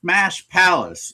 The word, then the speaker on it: Smash Palace: So it's Smash Palace. The emphasis is on the second word.